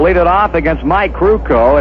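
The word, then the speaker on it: Krukow: it off against Mike ruko if you're wondering how to spell this youngster's last name k-r-u-k-o-w pronounce crewco and he'll be facing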